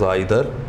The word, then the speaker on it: either: Then you have either, which you may pronounce as either, or neither, nor.